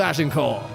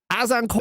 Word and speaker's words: Azincourt: and forever be known as the Battle of Agincourt. It's uh actually pronounced Azincourt.